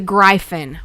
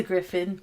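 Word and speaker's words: Gryphon: is first said the grien what is a grien that's my it's a griffin why is it spelled like that because it's 1865 yeah nobody knows that that says Griffin why does it spelled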